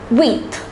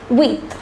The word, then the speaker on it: huit: The number 8 is pronounced as huit. Listen carefully, it's pronounced as huit.